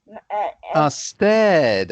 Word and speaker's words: stared: Why is not started? Stared. Okay. The reason why you pronounce that word stared is because it's from the verb to stare.